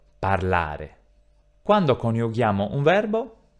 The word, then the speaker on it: parlare: For the verbs of the first group, the tonic accent in the infinitive mood is always, always, on the -A of the termination; so I pronounce PARLARE.